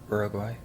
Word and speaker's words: Uruguay: In English we call them Paraguay and Uruguay. But the U in Spanish is pronounced U, so that's why they sound a bit different.